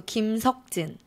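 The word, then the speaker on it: 김석진: Park e is the most common name so Kim Sook Jin is his screen name and Jin as a stage name so Kim sokjin Kim Kim good so talking his name good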